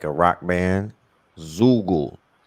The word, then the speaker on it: Bandzoogle: Zoogle, Zugu, spelled like Google, but with a Zugu, Z.